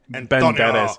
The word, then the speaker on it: Banderas: Where, Antonio Banderas, like... Banderas. You didn't say it right. Banderas.